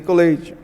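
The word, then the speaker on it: collate: Então, vou vir aqui, ó, que se escreve colate, mas l colete.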